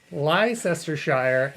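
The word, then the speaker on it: Leicestershire: and for all to the Americans how to pronounce these English countries uh War sester Shire GL GL glester Shire lestershire and bling bling Faire yeah yeah those are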